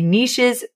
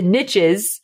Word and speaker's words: niches: love the conversation of the niches or the niches I have to say it right for it to rhyme the niches are in the riches no no let me